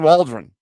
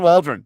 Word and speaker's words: Waldron: His name rhymes with cauldron. Yeah. Shane Waldron. Yeah. The Cauldron Waldron.